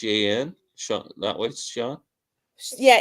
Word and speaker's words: Chan: an SE that way Sean yeah it's ch H an but it's pronounced Sean yeah yeah she's she's